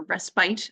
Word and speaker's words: respite: back up a second what actually is respit respit or respite as it's sometimes pronounced is when an unpaid